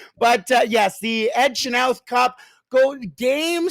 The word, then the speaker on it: Chenoweth: win the WHL Ed Chenoweth Cup. As yes, that is how you say it. I heard it from an official source. So if they're wrong, then we're all wrong. But yes, the Ed Chenoweth Cup.